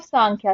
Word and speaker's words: सांख्य: The word समख्या, समख्या लिखा है लेकिन सांख्या बोलते हैं, प्रोनाउंसिएशन में कहीं एन मिल जाएगा एम मिल जाएगा, उसमें कंफ्यूज नहीं होना है।